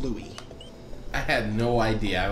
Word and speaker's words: Louis: name is Louis CK it's spelled Lewis like Saint Louis but it's pronounced Louie I had no idea